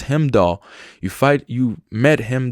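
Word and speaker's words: Heimdall: as him doll or I've been saying it wrong it's him doll you fight you met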